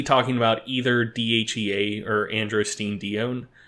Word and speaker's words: androstenedione: about either DHEA or androstenedione, or dione, depending how you pronounce it.